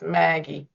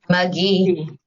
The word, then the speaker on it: McGee: I would have said, and I'm ready on Miss Maggie. How do you pronounce her name? McGee. Oh, McGee. that's what I kept saying wrong.